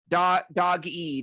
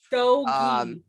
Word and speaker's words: Doge: So Yeah, it's pronounced Doge. Doge. Say that Doge. again. Doge. Okay. With Doge. the like the J sound kind of.